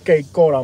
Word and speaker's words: Cape Coral: Some people pronounce it Cape Coral, but the locals know it's Que Cora, man.